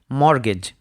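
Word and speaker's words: mortgage: কি উচ্চারণ হবে? মর্গেজ।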